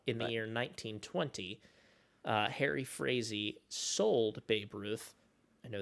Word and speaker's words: Frazee: He and the owner of the Red Sox, that was a guy named Harry Frazee, I think is how you pronounce his name, Frazee.